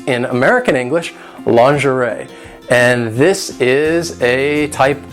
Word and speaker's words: lingerie: it is pronounced lingerie in British English it is pronounced lingerie which is actually closer to the French pronunciation so American English is